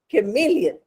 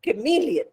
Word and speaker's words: chameleon: specific singular noun so we are saying the chameleon now pronunciation is very important CH can be Cur